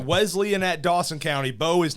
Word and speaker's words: Wesleyan: guys it's Wesleyan John Wesley and those guys from the Methodist Church is who it's named for it's not Wesleyan it's Wesleyan okay I've got it out of my system s not Z got we have been